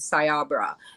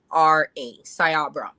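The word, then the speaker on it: Cyabra: you guys the name of the company is sayabra and it's um pronounced it's spelled c-y-a-b-r-a sayabra and this company this is an Israeli type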